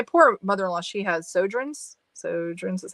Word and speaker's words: Sjögren's: Sjögren's is how you say it.